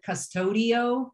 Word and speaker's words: Qustodio: The one that I used as a parent to watch what Brent did was, and it's spelled with a Q, but I always called it custodio, like I'm like custody of, but I knew where it had a phone locator.